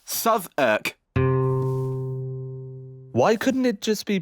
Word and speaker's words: Southwark: Southwark! And yes, it's pronounced Southwark. Why couldn't it just be pronounced Southwark?